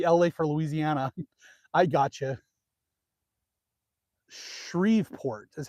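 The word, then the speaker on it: Shreveport: Shriveport is how you say it. Shriveport.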